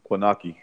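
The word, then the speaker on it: Kownacki: How do you pronounce that Polish kid's name? Konaki.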